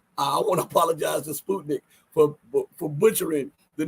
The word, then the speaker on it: Sputnik: interviewed by Sputnik news I finally uh realized the proper way to pronounce it is Sputnik I'm sorry all the times I've said Sputnik but it's Sputnik okay um and I